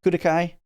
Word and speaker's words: Klukai: So we get in Zhaohui, June 12th, Klukai, or as they say, Kudakai, because I need to look that up. If it is actually Kudakai, I should say it that way. That's a Japanese way to say the LU or RU.